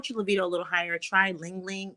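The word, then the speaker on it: ylang-ylang: put that on and get that aromatherapy going Ling Ling it's spelled y-l-a-n-g-y-l-a-n-g really good for increasing the libido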